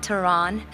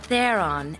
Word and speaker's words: Theron: oh I see and it's not Tehran but they're on as in they're on the Shelf is